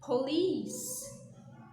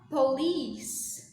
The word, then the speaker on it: police: é certo gente polícia em inglês a distância police police essa é a pronúncia correta dessa palavra não é force certo